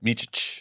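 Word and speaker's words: Micić: How do you pronounce his name? Micic.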